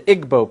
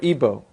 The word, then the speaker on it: Igbo: happening is in Nigeria you have the igbo people or ebo pronounced either way and where it gets